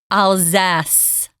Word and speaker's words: Alsace: They actually pronounce this Alzas. Alzas with a Z and then a S at the end.